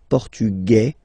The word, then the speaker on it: portugais: Masculine, portugais, you don't pronounce the S.